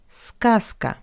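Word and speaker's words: сказка: That's why we pronounce Z as its voiceless analog S zasa but scaska skaskka z goes to s skaska.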